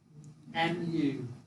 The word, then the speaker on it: mu: And do you know how to pronounce that letter? U. M. M-U, mu.